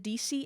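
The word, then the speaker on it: Deacy: still has an invention I think you pronounce it DC amp d-e-a-c-y amp and you can go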